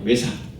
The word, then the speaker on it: Vesak: 외삭. VESAK인데 V가 어디든 W로 하고 어디는 V로 하고 어디는 F로 발음을 하는 데가 있어서 우리 좀 많이 헷갈려요.